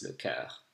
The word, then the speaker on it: cœur: Le corps is the body, le cœur is the heart. And of course, it's fundamentally different. So be careful when you pronounce French, you want to practice your vowels. Le corps versus le cœur.